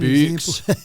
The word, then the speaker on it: Boox: This is just It's an Boox. example. I'm not sure how you say it. I assume it's a kind of a play on books. Yes. But it's said with a Scottish accent.